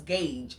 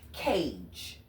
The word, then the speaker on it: Cage: I thought it was Gage. I thought I was saying it wrong. I was not saying it wrong. It's as stupid as my eyes are leading me to see. Cage.